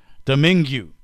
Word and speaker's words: Domingue: Tony Domingue. One doesn't simply... What did you say his name was? Domingo?